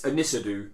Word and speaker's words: Ynysddu: Now, forgive me for the pronunciation, because the team is YNYSDDU. Now, my dad lives in Wales. He assures me it's Anisadu. Okay, that's how you pronounce it.